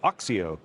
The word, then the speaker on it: OXIO: uh Nico is a co-founder and CEO of oxio did I say it right absolutely perfect I